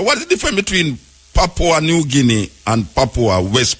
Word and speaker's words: Papua: How you pronounce it? Papua? Yeah, West Papua is... Papua.